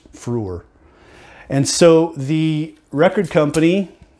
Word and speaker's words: Freur: they just said now the pronunciation of the symbol is Frewer and so the record